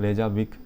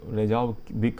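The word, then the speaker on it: Reykjavík: इसकी कैपिटल रेजाविक नहीं रेजा रेजाऊ विक है।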